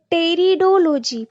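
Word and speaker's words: pteridology: ताको कहला कोन taxonomy next is टेरिडोलॉजी पी एठी साइलेंट अछि स्टडी ऑफ टेरिडोफाइट्स को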